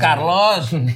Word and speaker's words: Carlos: Kalau tadi gua next Charlos enggak apa-apa. Next Carlos bukan Charlos. Tulisannya C, bacanya C.